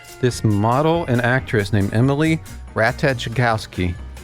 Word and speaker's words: Ratajkowski: I know it's early, but they've got this thing out like, this model and actress named Emily Ratajkowski. I think the J is silent.